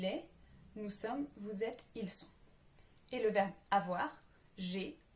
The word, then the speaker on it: ils sont: Attention à ne pas confondre ils sont et ils ont. L'un, on va le prononcer avec un S, le deuxième avec un Z. C'est différent et on peut mal vous comprendre.